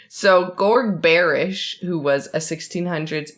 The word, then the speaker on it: Georg: So, Gorg. Is that how you say it? Hey, everybody. So, Gorg? I think it's Jorg. Jorg? It's G-E. It's George without the last E.